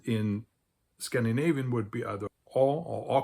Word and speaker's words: og: less like an old the G is kind of silent I would think and in Swedish it's